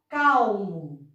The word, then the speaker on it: calmo: A palavra calmo. Calmo, veja que o L tem um som mais forte, calmo. Então, também se escreve com L.